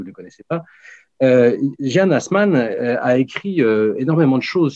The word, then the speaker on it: Assmann: égyptologues favoris, qui s'appelle Jean ou Jan Hassmann, si on prononce à l'allemand, donc qui est allemand, qui est professeur à